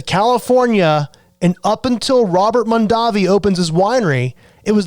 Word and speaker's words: Mondavi: Well, when Cesare came to the United States, he ended up changing the pronunciation of their last name so it was more Americanized.